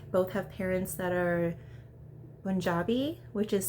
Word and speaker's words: Punjabi: have parents that are Punjabi which is spelled with a P but pronounced like more with a B sound and that's the area